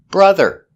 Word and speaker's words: brother: Brother and mother. Both spelled with O, but pronounced with the relax sound.